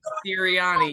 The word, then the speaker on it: Sirianni: Sirianni. Sirianni, yes.